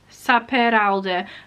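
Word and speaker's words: Sapere Aude: Saperalda. Merle Saperalda. It's Spanish, well, it's Catalan, and that's how you pronounce it.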